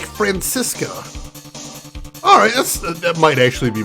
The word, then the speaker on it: Franziska: In Germany, we pronounce it like Franziska. Alright, that might actually be more accurate. I will probably try and say it like that from now on. Franziska.